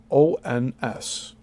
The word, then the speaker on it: gnomons: insert gnomons, or small obelisks, and this word is spelled Gnomons.